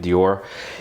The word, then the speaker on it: d'Or: Um it says that Lindamman's door is and it's d apostrophe o r so I'm pronouncing it Dior is inspired by the bell eloquent epique era of the late 1800s and early 1900s.